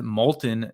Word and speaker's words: Moulton: So when asked about Moulton's comments, I pronounced his name wrong. Seth Moulton.